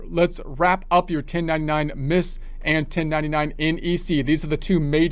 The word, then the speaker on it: MISC: about the 1099 Miss they pronounce it 1099 misk they pronounced the C which is kind of funny I don't know why that is because I think it still stands for miscellaneous and the C is silent I'm thinking possibly it's